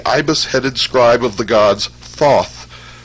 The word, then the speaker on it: Thoth: scribe of the gods Thoth, pronounced Tehuti.